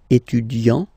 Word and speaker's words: étudiant: Okay, so it will of course change a little bit the pronunciation, because you will pronounce it at the masculine form. Il est étudiant. Okay, A-N-T, étudiant.